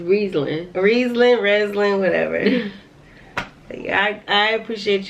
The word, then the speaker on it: Riesling: saying rattling you know I said rezulin right is Riesling Riesling Riesling whatever I